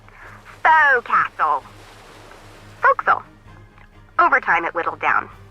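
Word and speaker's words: forecastle: ship, but it's pronounced folks. Why is that? Try pronouncing it like an English sailor with no formal education. Bow castle. Folks, over time, it whittleled down.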